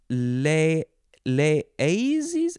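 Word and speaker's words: Les Eyzies: Okay, so it is from Cro-Magnon, which is a cave near Les Aises?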